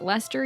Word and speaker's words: Leicester: Do they spell it Leicester here but still pronounce it Lester?